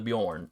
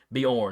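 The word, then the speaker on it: Beorn: have something called the Bjorn I'm try not to pronounce that like it's Scandinavian Bor b e o r n uh which I believe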